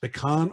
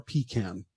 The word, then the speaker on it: pecan: it i only know pecan and pecan and pecan that's it okay pecan pecan pecan pecan and all are considered correct there is no correct pronunciation they're all correct khan is more correct